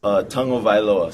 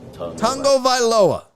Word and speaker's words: Tagovailoa: And he says, Tagovailoa. So you say tongue first, Vailoa. Tagovailoa. Tagovailoa.